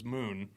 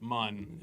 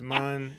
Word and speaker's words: Mun: Well, we thought it was Moon, and then we were told it was Mun. And no one remembers that. It's Mun.